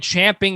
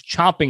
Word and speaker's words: chomping: that's not the same that's not how you say it it's chomping at the bit because it's like the horse chomping down on its bit to get to do